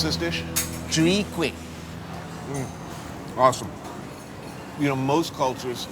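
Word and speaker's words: chwee kueh: How do you pronounce this dish? Chui quick.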